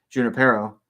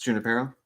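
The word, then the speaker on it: Junípero: missions founded by Father Junipero. Right? It's Junipero? Or I think in that instance, I think it's pronounced like a J.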